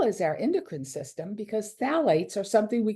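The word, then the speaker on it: phthalates: go through them quickly phalates the p is silent so it's th the pH is silence so it's phalates is the way we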